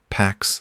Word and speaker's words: P4X: He chose the name P4X, pronounced PAX, the Latin word for peace.